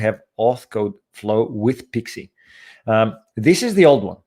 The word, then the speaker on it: PXE: I always think of Pixie like Pixie booting up on an old server, PXE.